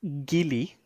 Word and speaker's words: Geely: Now, this is a new EV brand that is owned by Geely or Geely. Sam, first of all, how do you say that? I'm pretty sure it's Gili, Okay, but I mean, but potato, potato, so right?